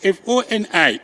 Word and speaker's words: Foni: If you go to all government documents, Foni is F-O-N-I, which is wrong. It's Foni.